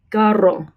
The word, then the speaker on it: carro: Also, if you have two R's together, carro, carro. So an initial R or double R has a trilled sound.